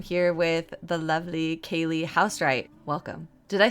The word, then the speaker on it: Housewright: today I'm here with the lovely Kaylie Housewright.